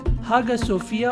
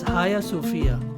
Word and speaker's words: Hagia Sophia: a turkish museum and now again a masjid haga sophia or pronounced as haya sophia is not only an architecture masterpiece but also